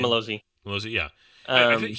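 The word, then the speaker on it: Mazzello: yeah, I think that was it with Joseph Malonzi, or how do you pronounce his last name? Malozzi.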